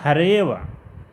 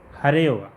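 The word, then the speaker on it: हरेऽव: हरेव, हरेव, मतलब अवग्रह का उच्चारण नहीं किया जाता है, इसको हरेव ऐसा उच्चारण करते हैं।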